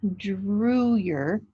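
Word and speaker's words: Drouillard: way it sounded to them in their journals drew yar oh it's always drew yay or drewer so it's pronounced drew your d-r-e w ye er is the phonetic spelling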